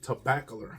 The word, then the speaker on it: Tobacolor: Dior Tobacolor, I believe that's how you pronounce it. Tobacolor, okay? Tobacolor. Okay, so it's spelled tobacco with color. You put it together, and that's what you get.